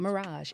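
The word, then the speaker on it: Mirraje: You say it like the hotel, but you spell it.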